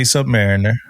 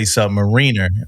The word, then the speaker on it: submariner: Some people say submariner and some people say submariner.